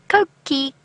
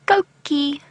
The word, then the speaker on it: Coqui: Coqui, Coqui. It is spelt C-O-Q-U-I, by the way.